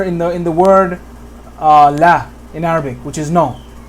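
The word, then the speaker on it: لا: Listen to the way I'm pronouncing the fatha. Like similar to bat or cat or hat. Right. Very similar sounding.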